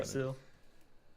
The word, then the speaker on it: Yggdrasil: I'm not sure how to pronounce that. Yggdrasil.